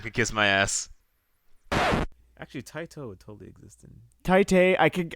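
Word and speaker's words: Taito: I think it's TI it's not tight it's it's definitely not tight so I read it's not t so I heard it was like pronounced almost like t a i t o Tito tto no [ __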